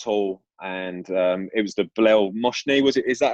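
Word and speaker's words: Bilel Mohsni: I remember there was one game for Shrewsbury at Roots Hall, and it was the Bilal Moshni, was it? Is that how you pronounce it? Bilal Moshni, yeah.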